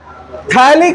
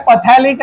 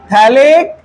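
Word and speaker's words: phthalic: थैलिक acid, P silent है, पथैलिक acid नहीं बोलने का, थैलिक एसिड।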